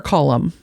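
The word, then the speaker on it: Colm: his buddy uh colem is it colum or column uh it's spelled colem but it's pronounced column which again is far more ridiculous than this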